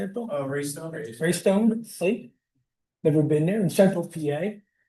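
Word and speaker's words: Raystown: Oh, Raystone.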